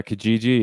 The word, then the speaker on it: Kijiji: And if what sites have Kijiji? What's that site? Yeah, Kijiji. Yeah. Is that how it's pronounced?